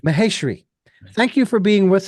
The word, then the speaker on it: Maheshri: program thank you and I believe I mispronounced your last name that's Mahar Mah mahash mahash mahesri right mahesri thank you for being